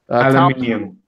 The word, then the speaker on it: aluminium: Tom Spillane wants to, Jamie, for you, I think he wants you, how you pronounce aluminum. The right way. Aluminium.